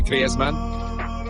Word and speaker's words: Griezmann: His Spanish background, said he talks to his dog in Spanish and dreams in Spanish, so I think we can pronounce his name the Spanish way, Griezmann.